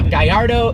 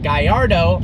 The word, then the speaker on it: Gallardo: island unfortunately it's the guy Ardo superleggera now it is pronounced guy our dough because the name is a Spanish fighting bull even though lambhini is